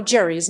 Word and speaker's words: Gerry: Though Gerry's name was pronounced with a hard G, like Dury, his namesake redistricting method is pronounced with a soft G, like Gerry.